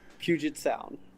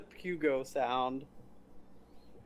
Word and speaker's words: Puget Sound: Puget Sound. Puget Sound. Not the Pugo Sound. Or the Puget Sound. Puget. Puget.